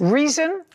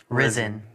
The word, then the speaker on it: Rizin: Reason? Risen. Risen. Spell it.